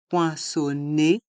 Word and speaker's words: poinçonner: Les lettres E et R se prononcent et, poinçonner, composter, valider.